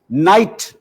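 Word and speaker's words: knight: This is why night is spelled K-N-I-G-H-T. Do you ever pronounce the K? No, of course not.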